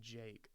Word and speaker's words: JVKE: a little bit about Jake uh it's spelled jvke but it's just pronounced Jake a little bit about